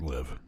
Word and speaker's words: LIV: Tour live golf merger it is pronounced live and uh that's a